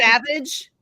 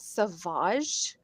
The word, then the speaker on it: Sauvage: Sauvage. Oh. Yeah, it's Oh. Sauvage. Sauvage? Yeah. No, Not apparently these just women savage? You it's not Savage.